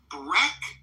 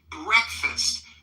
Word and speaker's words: breakfast: They're two syllable stress on that first syllable and those vowels can be tricky because we don't pronounce it as it appears. We say it as breakfast. Breakfast.